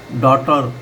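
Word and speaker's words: daughter: इसी तरीके डॉटर अब जी एच जो है यहां पर साइलेंट है। टी की साउंड से आ रहा है। डॉटर माना पुत्री।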